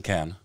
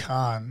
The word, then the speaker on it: Cannes: How do the French say it? Cannes. Cannes, yeah, Cannes. They don't pronounce the S.